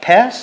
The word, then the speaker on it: Peirce: I could never pass any philosophy exam, but I do remember learning about Peirce, is that how you pronounce him? Yeah. Peirce, Charles Peirce.